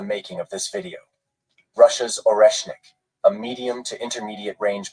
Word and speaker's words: Oreshnik: I think that's how you spell it. Oreshnik, not Oreshnikov.